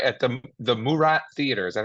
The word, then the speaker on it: Murat: Right at the Murat Theater. Is that how you say it? The Yeah, yeah, Murat?